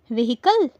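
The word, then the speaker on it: vehicle: बोलते हैं व्हीकल व्हीकल इस वर्ड में एच साइलेंट होता है यानी हम इसे व्हीकल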